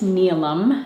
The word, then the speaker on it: Neelam: just as a reminder uh my name is neum that's how you pronounce it I can be found on Instagram